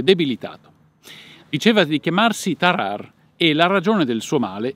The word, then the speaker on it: Tarrare: a faccio una premessa la prima rd tarar è una vibrante ovulare andrebbe pronunciata molto moscia per esser spicci alla